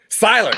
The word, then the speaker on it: Seyler: Seyler. Oh my God, I was way wrong. I used to pronounce it Colby, but apparently I was wrong in that also.